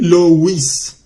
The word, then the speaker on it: Louis: Mientras que el nombre Louis se escribe Louis. Pues en francés. Ese OU suena como la U en español.